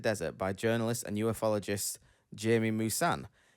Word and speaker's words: Jaime Maussan: Dozens of these specimens were discovered in the Nazca Desert by journalist and ufologist Jaime Maussan, or Jaime Maussan, I think it's pronounced, which has led to years of investigations to uncover the truth.